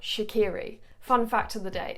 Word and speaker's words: Shaqiri: By the way, I pronounced his name Shaqiri for the longest time, and actually UEFA released a full phonetical list of player names, and from that list I learned that, yeah, it's Shaqiri and it's not Shaqiri.